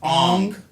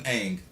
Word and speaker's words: Aang: Like Aang was pronounced Ong. They pronounced his name wrong on purpose, purposely, just for the movie. And no other incarnation has been pronounced Ong. It's always been Aang.